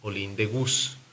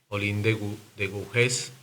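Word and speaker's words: Olympe de Gouges: Olí de Gus o como lo dicen por ahí, como lo pronuncian algunos, pero bueno, la pronunciación no es la más adecuada. Olind de de Gujés eh perdió la vida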